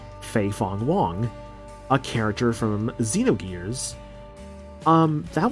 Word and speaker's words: Fei Fong Wong: People actually thought that this was, I believe his name is pronounced Fei Fong Wong, a character from Xenogears.